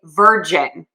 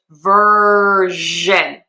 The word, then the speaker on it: version: the IT industry and he would say virgin instead. And he's not asking for which virgin, he's saying which version. So the mistake here is that we are having the sound versus the J sound.